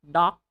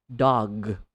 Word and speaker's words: dog: word clearly alright so not doc it's a dog dog good dog shot -